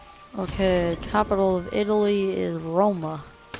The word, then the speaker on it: Roma: capital of Italy is Roma that's how it's pronounced in Italian find a doctor to